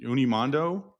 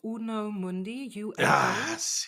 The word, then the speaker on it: Uno Mundi: Is it Unimo? You're totally butchering it. It's called Uno Mundi.